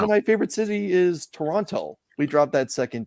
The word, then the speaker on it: Toronto: reference my home City the way that most people do that live in that area you drop that second T and it's just Toronto um if you want